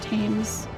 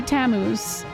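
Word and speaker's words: Tammuz: Do you pronounce pronounce it themes or tames? Oh, okay. I missed. I was like, what? It's supposed to be Tamuz.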